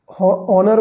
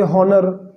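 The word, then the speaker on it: honour: ठीक है, ऑनर को बोलेंगे हॉनर, ऑनेस्ट को हॉनेस्ट, ठीक है, आवर को हावर, तो ये सब गलत है। ठीक है, इनका एच साइलेंट है, जितने भी इसमें एच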